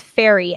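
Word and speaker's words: Fieri: i'm gonna say yeah so wikipedia has it as fairy f-e-r-r-y guy no way that's not right oh phonetically it's correct phonetically they have fe that's fairy yeah okay well [ __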